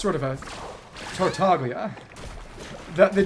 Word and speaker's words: Tartaglia: Because in Japanese it's Tartaglia, and there is a G there, it's just an exceptionally soft G. But it's still a lot more accurate than how the English version says Tartaglia, with an almost gratingly hard G.